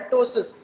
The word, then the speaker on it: टोसिस: Person will have drooping of eyelid which is called टोसिस. पी is silent, it इज पी टी ओ एस आई एस, टोसिस ऑफ और drooping of upper eyelid.